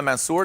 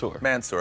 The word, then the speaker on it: Mansour: All right, next up, Misha Mansour. Did I say that correctly? Mansour, okay, I put more accent on it.